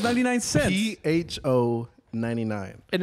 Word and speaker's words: Pho: P-H-O-99. And it's pronounced pho, by the way.